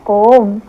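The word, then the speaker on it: comb: यह वाली देखो सी ओ एम बी क्या बोलेंगे हम कोम नहीं नहीं नहीं इसे हम बोलते हैं कोम जो बी है वो यहां पे साइलेंट रहता है टी ओ एम बी मतलब टॉम टॉम में बी का दफन कर दिया है तो हम इसे क्या बोलते हैं टॉम बोलते हैं बी ओ एम बी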